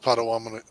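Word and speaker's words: Potawatomi: i mean p-o-t-a-w a-t-o-m-i i think you're close with pottawattamie i think i'm close i'm close enough the story in i've seen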